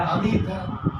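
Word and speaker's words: حمده: হামিদা বলেন তো হামিদা এইটা ঠিক আছে হামিদা হামিদাহ এটা হ থাকবে না এইটা এইটা হ থাকতে হবে হামিদাহ হ এখন যদি কেউ তাইলে হ বাদ দিয়ে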